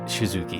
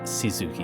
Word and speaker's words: Shizuki: her duties name there's definitely more of like a sh to the s you know it's more like shizuki instead of just Suzuki at least that's how